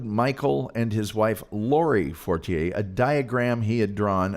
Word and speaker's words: Fortier: I think a lot of people call him Forier. I'm not doing that. That's not how it's pronounced.